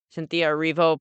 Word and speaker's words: Cynthia Erivo: I could see Cynthia Erivo. Is that how you pronounce it? Yep. Cynthia Erivo possibly getting it, but I would be kind of shocked if Nora didn't beat that.